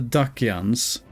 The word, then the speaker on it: Dacia: Sword and Shield of the Dacians. I'm going to presume that Dacia is pronounced with the hard C here.